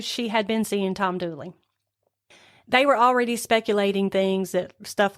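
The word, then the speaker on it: Dula: Tom Dooley, and that is actually spelled Doula, D-U-L-A, but this is the Appalachian Mountain area, and so everybody pronounces that Dooley.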